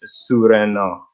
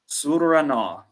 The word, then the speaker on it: Surena: And my pronunciation is Surena. Surena.